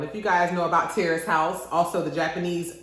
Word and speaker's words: Terrace House: If you guys know about Terrace House, also the Japanese pronounce it Teresa House, and it's on Netflix.